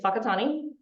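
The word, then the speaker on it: Whakatāne: Bettina lives in Aotearoa, and that other word, in case you're wondering how to say it, is Whakatane.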